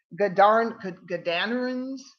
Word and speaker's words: Gadarenes: the country of, let's see, what is it pronounced? It's Gadarenes.